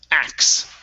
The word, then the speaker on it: acts: end of act okay so acts acts okay so this is going to be like an uh almost like an x it's ax x yep just like that so the uh c c t s is kind of just like the s so this x okay nice job nice